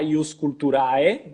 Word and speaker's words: ius culturae: Eu falo ius culturae, pessoal, mas pode falar ius culturae, porque é uma pronúncia ao latim eclesiástico, ius culturae, e o ius culturae é o latim, digamos, reformado da época romana, tá?